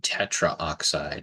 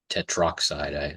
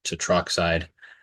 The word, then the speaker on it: tetroxide: So it's not, we dropped the A, so it's just tetroxide. I actually pronounced that incorrectly the first time. So it's tetroxide for that one.